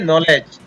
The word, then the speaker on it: नॉलेज: या साइलेंट रहता है, फिर ले और डी साइलेंट रहता है और ज, तो इसको पढ़ेंगे नॉलेज।